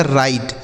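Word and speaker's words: write: तो देखिए यहां डब्ल्यू साइलेंट है। इसको नहीं पढ़ेंगे। इसे पढ़ा जाएगा राइट।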